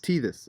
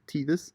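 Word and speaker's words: Tethys: don't know so it's how do you say tatis tithi see this T this okay T this and then DNA and well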